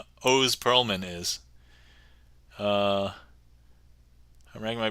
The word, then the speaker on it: Oz Pearlman: So, funny thing when you read uh that name, it looks like Oz Pearlman, but actually if you listen to anything uh his name is pronounced O Pearlman, so if anybody cares,